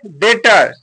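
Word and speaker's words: debtor: टी आता है तुरंत तो वहां पर बी साइलेंट हो जाता है अगला वर्ड है डेटर डीई बी टी ओ आर यहां पर देखिए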